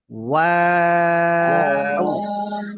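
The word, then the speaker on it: واو: ওয়াও। ওয়াও, না না না, ঠোঁট তো স্বাভাবিক হচ্ছে না, ঠোঁট গোলই রয়ে যাচ্ছে, গোল থাকবে না।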